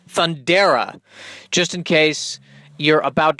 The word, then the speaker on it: Thundera: The series plot begins with the dying planet Thundera, and they're so nice that they actually spell it out how it should be pronounced. Thundera, just in case you're about to present the